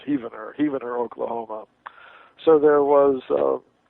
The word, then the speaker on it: Heavener: the 20th century from heaver spelled like heaven I think it's pronounced heaver Oklahoma maybe I've got the pronunciation wrong forgive me if anybody's from there but uh uh once I pronounced it Heavener and somebody told me it's heaver Heavener Oklahoma so there